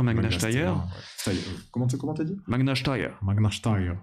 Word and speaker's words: Magna Steyr: Magna Steyr. Voilà, ok, très bien, on prononce à l'autrichienne.